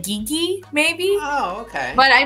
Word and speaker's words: Gigi: The commentator guy, he should know it's pronounced Gigi.